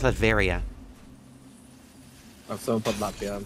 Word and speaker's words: Latveria: He's from Latvia and then took over. Okay. It's pronounced Latveria.